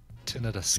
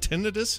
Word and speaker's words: tinnitus: or just like a tinnitus like good thing tinnitus thing yeah was it tendinous how do you say that it's both both are acceptable according to the lady dr.